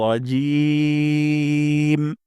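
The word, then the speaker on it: الرجيم: হরফ উচ্চারণ করেন তাহলে জিম উচ্চারণ করব জিহ্বার মাঝখান থেকে জিহ্বার মাঝখান উপরের তালুর সাথে লাগে লাগাবো তাহলে জিম উচ্চারণ করা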